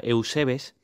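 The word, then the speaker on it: εὐσεβής: Pues bien, he ido al griego para ver esa palabra de piadoso, que es la 2152, que se pronuncia Eusebes, y efectivamente era un hombre piadoso, que se interesaba por las cosas de Dios Padre.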